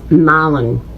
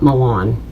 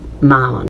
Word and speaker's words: Milan: Milan Italy in Tennessee it's m ah it's Malon Tennessee not Milan it's pronounced Malon make it stop I just feel like I